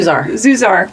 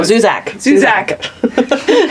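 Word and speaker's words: Zusak: How do you say his last name? Zuzar. Well, no, Zuzak.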